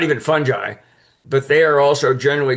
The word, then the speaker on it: fungi: So I usually remind people no it's fungi and you can pronounce it however you want but the right way pronounce it is fungi as I show there but the definition